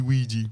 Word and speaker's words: Ouija: Squeegee Ouija rhymes with Luigi.